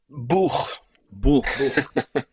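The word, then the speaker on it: Bůh: are going to do, how do you pronounce this again, bro? Is it? Buch. Buch. Buch. Okay. Yeah. It means it means God in Czech language.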